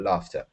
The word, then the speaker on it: laughter: pronounce it laughter um with a f f f sound not a g sound not l or whatever but laughter okay so uh to